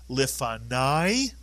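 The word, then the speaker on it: לפני: Nai is correct because the kamatz with a yud at the end of a word is the same as a patach plus a yud. It is the vowel sound I. So this word is pronounced lifanai, and it means before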